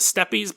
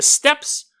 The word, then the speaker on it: steppes: it was growing on how do you pronounce it the steps I know it looks like it's the step YZ but the steppes of Mongolia okay so I started